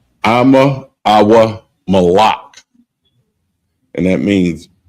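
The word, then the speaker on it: אמא: And the next one is mother, and it's pronounced Ama, Ama, and it's spelled AHMA, AHMA, and that's mother, Ama.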